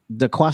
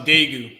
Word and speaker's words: Daegu: book, the Black Traveler's Guide to, was it Dakwa, South Korea? How you pronounce it? Which one? The Black Traveler's Guide, the last one. Oh, that's in Daegu.